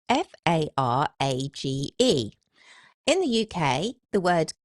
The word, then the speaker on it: Farage: So, as far as I'm concerned, F A R A G E rhymes with G A R A G E.